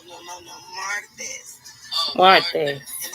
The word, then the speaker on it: martes: Miraculous. No. Martes.